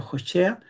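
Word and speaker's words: הושע: Jo, digamos, así se pronuncia en hebreo, Jochea, que sería Oseas, ¿m?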